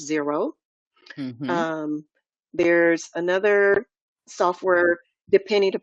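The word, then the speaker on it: Xero: there's another software called Zer xer o but it's pronounce zero um there's another software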